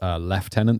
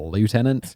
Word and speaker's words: lieutenant: at some point I'm definitely gonna mispronounce leftenant the American Way of a lieutenant yeah and this always